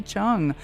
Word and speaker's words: Cheung: Just forget the E. It's a silent E. Chung. Ah, Chung.